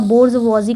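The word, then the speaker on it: bourgeoisie: बोर्जवॉजी, इसको जो प्रोनाउंसिएशन है इसका बोर्जवॉजी करके ऐसे कुछ प्रोनाउंसिएशन है।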